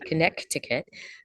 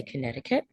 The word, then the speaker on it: Connecticut: we've got conne concut where the C is silent you do not say Connecticut but you say Connecticut Maine Massachusetts New Hampshire